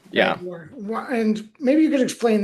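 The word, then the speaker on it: Bat Ye'or: Yeah, and there's that British guy who I don't know how you pronounce it, but it's like Bat Ewer. Yeah, Batyor. Yeah. Bat Ewer.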